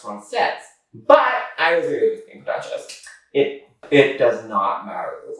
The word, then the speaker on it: française: In those videos, she mispronounced it as Francais. Now, I, being a bit of a Francophone myself, recognize that it's pronounced Francais, but I was really with being Duchess.